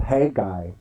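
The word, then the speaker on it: Haggai: the jewish guy Yeah a jewish scholar would tell me you pronounce it Hey guy he would he would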